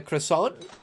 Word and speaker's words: croissant: you give me a croissant there's a t but you don't pronounce it then they should just